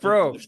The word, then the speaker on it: Probst: Probst, everybody. Probst. The B is silent, but sometimes not.